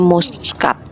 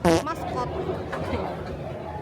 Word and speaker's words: Muscat: Selama ini aku pikir bacanya Muscat. Maskot. Bener tak?